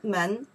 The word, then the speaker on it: 门: Now, pronounce the men is a door.